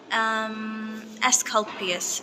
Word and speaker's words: Asclepius: Asclepius.